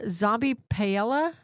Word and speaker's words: Zombie Paella: Yeah, Zombie Paella.